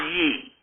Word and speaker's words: Ye: Ye." Murphy, "It's pronounced Ye."